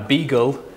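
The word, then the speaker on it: Buechel: name of eugene uh beagle it's um kind of a corruption of whatever the original german pronunciation is but they call him beagle that's how they pronounce it and ivan starr senior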